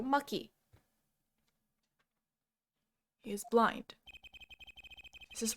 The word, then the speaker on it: Machi: I know it says Machi, but his Japanese name is Maki. So I was like, you know what? That makes sense. He's from a foreign country. Maybe CH is pronounced ki there. So Maki.